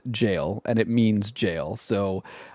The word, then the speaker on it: Gaol: But, they just released this brand new game called Junjiito Maniac and Infinite Jail. It's spelled G A O L, but apparently it is pronounced like jail.